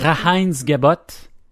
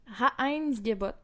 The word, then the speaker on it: Reinheitsgebot: Reinheitsgebot. Et voilà. Hein? On va regarder. Prononce ça. Reinheitsgebot. Et voilà. Reinheitsgebot.